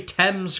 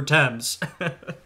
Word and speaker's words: Thames: criticize this narrator right is he didn't say Thames correctly come on man I know you're in Ireland but you know Britain ain't that far you should know how to pronounce the River Thames food okay this is good there's gonna be